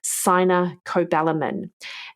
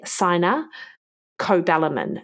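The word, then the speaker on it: cyanocobalamin: clear of a B12 form that is a sin cobalamin and that is spelled c y n a sin cobalamin c b a l i m so you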